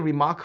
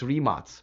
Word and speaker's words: Rimac: I've been saying Rimac for a long time, but really people told me it's Rimac.